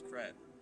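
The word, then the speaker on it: crêpe: Well, the pronunciation is crepe, but Emily in Paris says crepe, so.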